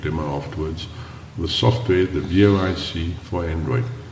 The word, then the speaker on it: vOICe: The software, the VOIC for Android. You spell it like voice, but the three middle letters, camel case says OIC.